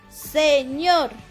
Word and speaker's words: señor: siguiente palabra es sr señor el acento recae en la última sílaba si no dijera señor señor si el acento estuviera aquí dijeras señor pero el acento está acá y es señor y es una palabra